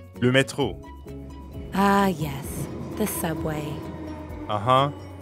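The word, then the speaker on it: métro: to ask about like lumetro ah yes the subway uh-huh and the french r is in the middle of metro so it sounds like you're clearing your throat excellent now let's plug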